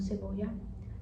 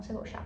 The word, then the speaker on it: cebolla: Eles provavelmente pronunciaria como cebolla, cebolia ou ceboja, cebolla. Mas a onde eu morei eles são cebocha em Buenos Aires eles falam secha, certo?